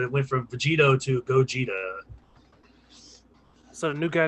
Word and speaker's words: Gogeta: went from vegito to gogeta so the new guy name is what now when they form together the newest movie it's spelled go ghetto but it's gogeta okay cool go get it he's got like red